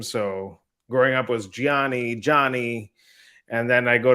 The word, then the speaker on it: Gianni: the projects you're getting into but let's uh Gianni if you could uh am I saying your